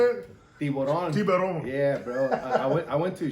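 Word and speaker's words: tiburón: Tiburon.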